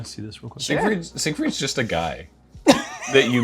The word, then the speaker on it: Siegfried: Is it Siegfried?